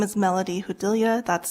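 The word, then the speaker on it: Judilla: members of the committee my name is Melody hudilia that's spelled m-e-l-o-d-y-j-u-d-i-l-l-a and I'm the deputy director of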